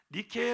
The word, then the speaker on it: Nike: 이 회사 이름이 바로 나이키 였어요 나이키 란 이름이 어디서 다 왔느냐 그리스 로마 신화의 승리의 여신 으로 알려진 미케 여신이 있습니다 이렇게 여신상 인데요 니케 라는 이름을 미국식으로 발음 하게 되면 나이키가 됩니다 그래서 이 리퀘